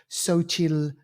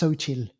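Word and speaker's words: Xochitl: by an actor called sochil gomez that's how you pronounce the name but it's with an x but it's pronounced sochil she's from is it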